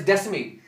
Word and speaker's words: Descemet's: It's pronounced as Descemet.